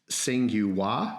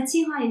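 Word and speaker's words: Tsinghua: studying in academia in i'm going to try to pronounce this right you might have to correct me but it's singua university did i get it right uh chinhae university uh in china yes right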